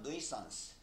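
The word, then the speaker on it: nuance: 보통 우리는 뉘앙스라는 말 쓰지. 외래어로. 굉장히 그 묘한 뉘앙스가 느껴지는데 할 때 그 뉘앙스. 영어식 발음은 nuisance.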